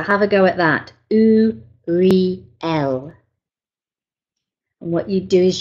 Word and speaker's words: Uriel: the right frequency, okay, needs to be pronounced as U as in two, Re as in real, and L as in elephant. So have a go at that. U-re-l.